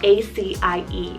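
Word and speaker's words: Acie: Keeping on this 4-letter train, I have AC, spelled A-C-I-E, AC.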